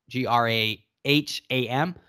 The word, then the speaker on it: Graham: Davy is spelled D-A-V-Y, no E there, and Graham, Graham.